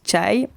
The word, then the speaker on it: tchaï: pakora beignets de légumes tchaï se prononcent tchaï oui parce que ça s'écrit ses achats il termine 10 pour désigner le t il s'agit le plus